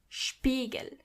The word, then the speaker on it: Spiegel: When you see an S before a P, you have to automatically pronounce the S as sh, even if there is no C or H. The S is pronounced as sh as long as there is a P after it.